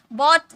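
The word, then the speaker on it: bought: बोट देखिए इसकी pronunciation मैंने लिख रखी है क्योंकि बहुत सारे स्टूडेंट्स बाउट पढ़ते हैं। बाउट नो गाइस बाउट नहीं बोला जाता है।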